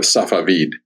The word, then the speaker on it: Safavid: was the blade of safavid is how it's pronounced in Persian and it just happened